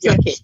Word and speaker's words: gnocchi: the kitchen, and Joanne was making this wonderful gnocchi. Have I said it right this time? That's right, gnocchi.